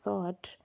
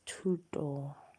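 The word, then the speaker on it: Thoth: now call thought but it's not supposed to be pronounced as thought it's pronounced as tuto which means education or information.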